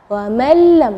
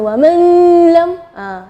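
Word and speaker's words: وَمَن لَّمْ: kedua, lam huruf la, wa mallam dengan wa man lam. Itu salah, atau wa man lam itu jadi jelas. Ya, di situ kita bacanya wa mallam ya, jadi huruf nunnya tidak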